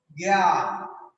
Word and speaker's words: জ্ঞান: যখন আমরা লিখবো জ্ঞান, তখন দেখো উচ্চারণ হচ্ছে গয় জফলা চন্দ্রবিন্দু আকার গয় যোগ জ্ঞা, এ উচ্চারণ হচ্ছে এ, ওই যে এটা, আর দন্তে ন জ্ঞান পশ্চিম।